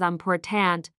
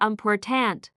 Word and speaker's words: important: For example, important is pronounced as important, not unpertant. If you stress the wrong syllable, the word may sound strange or even unrecognizable.